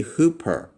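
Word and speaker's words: ὑπέρ: the rough breathing mark, the rough breathing mark is pronounced. So if you see this over a letter, this is pronounced "ha". Ha. There is an h sound that's added with the smooth breathing mark. So if I were to pronounce this right here, this would be "hoop-er" (means: "above") "Hoop-er."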